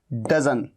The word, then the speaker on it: doesn't: ये कॉन्ट्रैक्शन है डजंट, लेकिन डजंट के बजाय आप क्या बोलिए, आप बोलिए डजन। एडवांस इंग्लिश में ऐसे बोला जाता है।